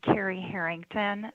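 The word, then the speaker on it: Cari Herington: good morning for the record my name is carrie harrington that is spelled c-a-r-i h-e-r-i-n-g t-o-n i'm the director with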